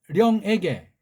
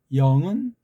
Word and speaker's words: 령: 뭐 설명한다고 한 건 아니지만서도 자 그럼 여기 앞부분에 말하라 모든 령에게 영이라고 하지 마세요. 령이라고 해야 됩니다. 령 예 령은 우리 한문 발음이고 영은 쪽바리에 물든 사대국의 발음이 영자예요. 령 령 령으로 하시우다.